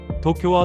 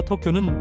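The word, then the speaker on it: 東京: 도쿄도 마찬가지입니다. 도쿄와 토쿄는 발음이 틀립니다. 도와 토는 엄연이 다른 발음입니다.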